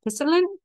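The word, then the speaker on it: pissenlit: The French name, I'm terrible with French pronunciations, but the French name of dandelion is pisselin.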